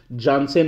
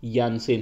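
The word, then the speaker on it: Jansen: नाम यानेमन मिलाना है, साउथ अफ्रीका में जे को कई बार वाई प्रोनाउंस करते हैं, जैसे य बोलते हैं, जिसे आपको बता दूं एनरिक नॉट जे बोल देते हैं हम लोग, वो एक्चुअली एनरिक नोटिया है, ठीक है। तो वो चीज़ आपको पहले बता दूं, मार्को जानसेन नहीं, मार्को यानसेन है, ठीक है। तो ये य प्रोनाउंस करते हैं।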